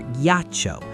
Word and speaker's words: ghiaccio: Normally, G followed by I would be soft, but that silent H is our little hardener, forcing the hard sound for ghiaccio.